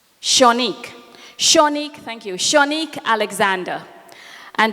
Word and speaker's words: Shanique: Am I pronouncing her name correctly? Shanique, thank you.